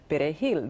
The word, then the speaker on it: perejil: them, can you say perejil, the Spanish word for parsley? And if you could not roll your R properly, you were killed.